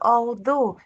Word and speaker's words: although: It is although it means that this g this gh is silent.